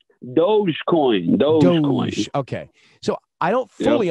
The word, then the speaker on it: Dogecoin: Do you say Dogecoin? Am I saying it right? Dogecoin.